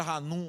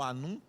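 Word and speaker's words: Hanum: no filho de Nava Anum com H. Tá? Algum, alguns pronunciam o nome de Ranum por conta do H, seja Ranum ou Anum.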